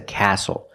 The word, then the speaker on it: castle: We also see the silent T when you have the spelling pattern S-T-L-E.